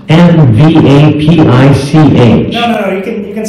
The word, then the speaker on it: MVAPICH: The name is pronounced MVAPICH.